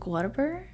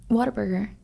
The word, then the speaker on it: Whataburger: in and out versus how do you say it Whataburger Whataburger there's no R in there no yes um yeah